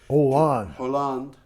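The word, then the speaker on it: Hollande: three years ago by President franois haland holand I'm very bad the French don't pronounce the the H okay I'm glad you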